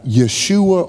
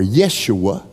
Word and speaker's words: Yeshua: that's not his name his name is uh yeshua or yeshua and we pronounce it jesus with a j instead of a y and we do that